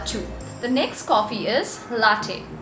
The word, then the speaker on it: latte: the next coffee is latte the correct pronunciation is la day now this is one